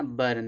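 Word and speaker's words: burn: जैसे यहाँ पे दिया है ना, यू के बाद आर आ रहा है ना, बर्न, इसको देखो बर्न पढ़ेंगे।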